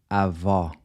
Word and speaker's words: avó: Then the open O is pronounced aw, like the aw in awesome. We see this in the word avó, grandmother.